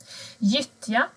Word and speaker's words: gyttja: Gyttja. Här ser ni gyttja. G och Y blir J.